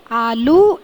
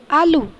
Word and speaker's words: आलू: हाँ, पहला वाला सही है, क्योंकि आलू का उच्चारण आलू ऐसे करते हैं, आलू ऐसे नहीं करते।